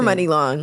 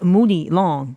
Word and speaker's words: Muni Long: She's I hear people pronounce her name Muni Long. People just don't know. They just don't know. Long. Yeah, that's what I'm like. I know I'm not saying it wrong. It's Money Long.